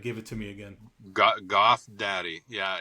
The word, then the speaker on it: GVTH DVDDY: How do members of the band pronounce the band name? I think you answered that, but give it to me again. Goth Daddy.